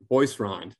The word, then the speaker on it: Boisrond: And last but certainly not least, Heather Boisrond. Am I pronouncing that correctly?